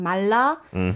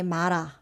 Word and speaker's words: 말아: Many people make mistakes saying 말라, but in this case, you say 말아.